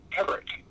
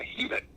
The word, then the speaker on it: Hebert: people come from, and where the river's name today is pronounced Hebert, the River Hebert. On my grounds, the Monadnock region of New Hampshire, I'm a Hebert, as in Hebert.